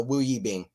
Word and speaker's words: Wu Yibing: Yeah, I try to learn a lot of the players' pronunciations, but I just knew I butchered that. So Wu Yibing.